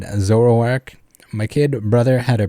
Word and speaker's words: Zoroark: pronounce zoroark they are adamant that is properly pronounced k so rourke or zoro k whereas i'd always say said zoroark my kid brother had a pretty official pokedex